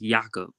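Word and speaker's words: Jakob: free agent next year he's pronounced yaakov Jacob whatever Jacob Jacob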